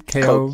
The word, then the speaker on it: Koch: That's how you pronounce their last name? Koch, yes.